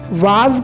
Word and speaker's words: was: कि past indefinite में वॉज were का यूज नहीं होता है। पास्ट कॉन्टिन्यूअस टेंस में हम वॉज वर का यूज करते हैं, वाज का नहीं, वॉज का।